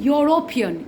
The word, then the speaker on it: European: So it is like the word is beginning with a silent Y, although the visible letter is E.